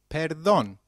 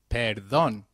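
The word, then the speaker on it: perdón: me when used to beg pardon translates to Peron let's try that one more time Peron very good however for seeking someone's attention excuse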